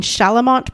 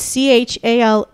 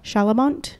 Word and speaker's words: Chalamont: i mean look it's c-h-a-l-a-m-o-n-t i think that's right yeah shalamont that sounds right or chalamont i don't think it's that okay we're going to